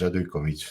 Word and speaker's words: Radujković: So, my name is Nicola and the surname is Radikovich. So, whoever else is listening now, he knows how to pronounce it.